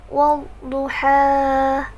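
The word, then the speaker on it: والضحى: Orang-orang membacanya seperti ini. Wad-duha wad-duha, seolah-olah di akhir ha itu ada hamzah, jadi ditekan ha. Padahal sebenarnya tidak ada, jadi tidak boleh ada penekanan seperti itu.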